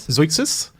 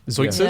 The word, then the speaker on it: Zeuxis: Am I pronouncing that? Zeuxis? Like Zeugma. It's Zeuxis? Yeah. So the Greek artist is called Zeuxis, 5th century BC.